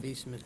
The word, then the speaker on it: Wiesmann: That's why Tom's number that he gave us that, for the documentation, was based on excuse me, how do you pronounce that word? Wiesmann? Viesman.